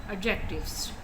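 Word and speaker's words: adjectives: एडजेक्टिव्स, ठीक है, इसमें डी साइलेंट है।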